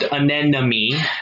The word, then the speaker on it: anemone: that and then we have see enemies it's pronounced an enemy not oh sorry I'm mo knee and then